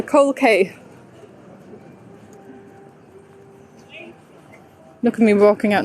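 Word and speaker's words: Coal Quay: street the coal k it's actually written as a cold key but for pronunciation the cork accent it's the coral it's the cold kay look at me walking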